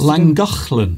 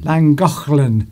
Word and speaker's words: Llangollen: Llangollen. Llangollen. That's it. Is how the Welsh would pronounce it.